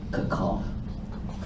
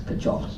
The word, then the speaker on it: Kirchhoff: Sometimes this is pronounced in a German way, Kirchhoff. But yeah, if you don't speak German like me, you can pronounce it as Kirchhoff.